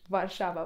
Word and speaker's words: Varşova: I przykładem będzie tutaj Warszawa, czyli Warszawa po turecku.